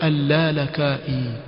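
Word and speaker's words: اللالكائي: Jina latamkwa alalakai utawaskia wakasema yaani yampa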